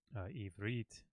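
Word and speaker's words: עברית: The accent will fall on the last syllable of a word. So davar, ivrit. So you can hear that in my voice. The accent where the stress falls on a syllable in a word is usually on the final syllable.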